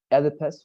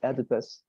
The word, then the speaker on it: Oedipus: Oedipus, right, the pronunciation of this hero, Oedipus, but apart from that, you know, you said, right, you didn't understand your letters.